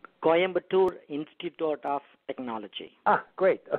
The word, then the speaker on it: Coimbatore: Coimbatore? Coimbatore Institute of Technology.